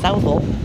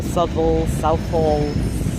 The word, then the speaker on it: Southall: Southall, or Southall, Southall, however you want to pronounce it. There's many different ways you can pronounce the station. From Southall, Southall, many different ways. They're pretty much all correct.